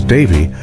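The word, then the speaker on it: Dafydd: And as they grew, Daffod, a name that in Welsh is pronounced roughly as Davyy, attached itself to the mythology of the seas judgment.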